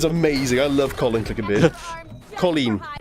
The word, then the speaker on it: Colleen: Colleen. It's pronounced Colleen.